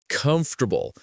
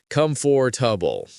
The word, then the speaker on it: comfortable: Comfortable. Native speakers say it fast. comfortable, not come for tubble.